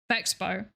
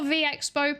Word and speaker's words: VExpo: I personally think that the V is capitalized and the E is lowercase, and therefore it is one sound together, so it's Vexpo.